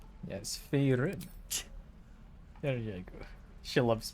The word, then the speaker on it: Faerun: Fey run. Yes, Faerun.